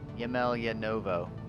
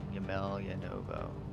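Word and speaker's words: Емельяново: Yemeljanovo. That's how you pronounce it. Yemeljanovo.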